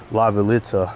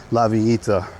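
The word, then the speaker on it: La Villita: or as a as one of the tourists called it, Lavalita, but it's pronounced Lavita in Spanish.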